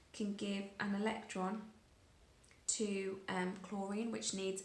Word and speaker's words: chlorine: Chlorine, INE, because it's just an element on its own, a diatomic molecule.